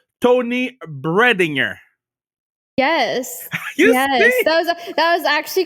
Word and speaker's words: Toni Breidinger: So I want to make sure I pronounce your name the right way. You tell me if I got it right. Toni Breidinger.